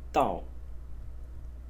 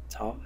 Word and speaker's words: 道: frequent one as well, which is pronounced Dao, Dao in the fourth tone.